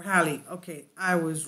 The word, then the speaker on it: Halley: And for those looking for help with pronunciation, the name traditionally rhymes with the word valley or Halley.